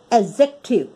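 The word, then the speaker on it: adjective: डी जब भी कभी जे से पहले लिखा जाता है, हम उसको बीच में जब आता है तो वो ए और जे के बीच में डी साइलेंट रहता है, एडजेक्टिव।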